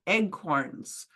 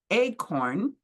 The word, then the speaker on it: acorn: First of all, why are they called eggcorns? Many English people mispronounce the word acorn and say eggcorn instead, and that's how they got their name.